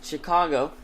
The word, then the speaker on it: Chicago: same thing with Chicago the name of Chicago's derived from a French rendering of the Native American word shakakwa therefore is pronounced in Chicago not just because there